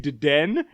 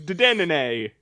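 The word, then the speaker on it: Dedenne: used to call bullshit Pikachu Deden, but apparently its name is Dedenene.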